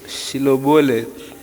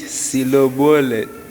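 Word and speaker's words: Shibboleth: When he said no They said to him then say shil shilobolet and he said silobolet silobolet for he could not pronounce it right and then they seiz him and slew him at the of Jordan.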